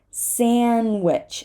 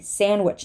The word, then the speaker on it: sandwich: we say handsome handsome sandwich same story sandwich no one says sandwich okay sandwich up here